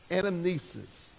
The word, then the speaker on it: anamnesis: And this term is called anamnesis.